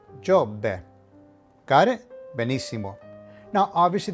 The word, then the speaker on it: Giobbe: And this particular word would not be pronounced Giobbe, but Giobbe.